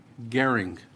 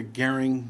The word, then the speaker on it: Gehring: Chair now calls Gehring. Oh, you said it right. I knew it was me because you took a second. With my last name. We have you down as Gehring, representing yourself in favor of the bill.